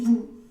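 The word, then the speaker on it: vous: la siguiente palabra no pero en general si nosotros tenemos que hablar de estas palabras por particular o solitas vamos a decir nu y Vu Okay y lo mismo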